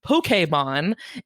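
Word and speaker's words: Pokémon: I mean you know it comes from Japanese and that is very much how they say it uh most English speakers just say Pokemon I it sounds goofy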